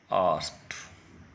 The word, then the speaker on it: asked: से बोलना होगा, आई आस्क्ड, और यहाँ पे the women looked. ED sound ट साउंड में परिवर्तित हो जाएगी। यह ब्रिटिश इंस्टीट्यूट प्रोनाउंसिएशन के अकॉर्डिंग है।